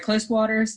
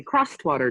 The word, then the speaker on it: Crosswater: She is the owner of Close Distillery, Close Waters Distilled Spirits. Is that correct? It's actually Crosswater Distilled Spirits. Crosswater, sorry. Yep, that's okay. I can never remember how it's pronounced.